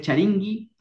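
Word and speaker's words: charinki: Y se escribe con K de kiosco, ¿no? Se pronuncia charingi, y, pero se escribe con K.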